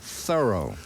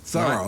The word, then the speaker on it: Thoreau: miles down the road we pronounce his name thorough thorough like a thorough job we live in an